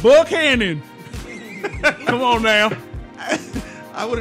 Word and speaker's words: Buchanan: But do you really think about it's West Virginia? It's Buchanan.